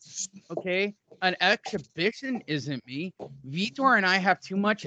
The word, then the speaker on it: Vitor: ripped for vitor and it's pronounced vitor uh the golden boy